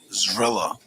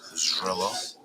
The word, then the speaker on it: Zrilla: Zrilla is how it's pronounced. Zrilla.